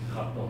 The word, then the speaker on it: Khartoum: Sudan, yeah, Khartoum. Khartoum? Yes. How do you actually pronounce it? Khartoum.